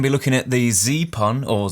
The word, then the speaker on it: Zeapon: be looking at the z-pun or zeppen because i think it's meant to be pronounced like weapon so zeppen micro 2